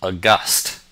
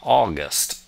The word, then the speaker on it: august: Our first word is august, not August, august.